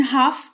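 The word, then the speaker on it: half: फिलहाल जान लो कि एच ए एल एफ लिखा हुआ है लेकिन हाफ इसको पढ़ेंगे एल का उच्चारण नहीं करते हैं और इसका मतलब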